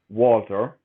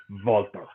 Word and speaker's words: Walter: For any Americans listening, it is not pronounced Walter. It is always and shall be pronounced as the Ring General Walter.